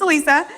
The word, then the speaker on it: Alissa: I have two different pronunciations of my name, so it's Alissa. But I work at ABC6 and Fox 28.